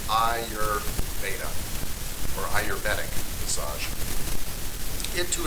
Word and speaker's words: Ayurveda: It's pronounced Ayurveda, or Ayurvedic massage.